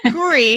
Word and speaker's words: Couri: And Couri is, Couri. I know you added an extra Couri. accent on the E. I don't have an E at the end of my name.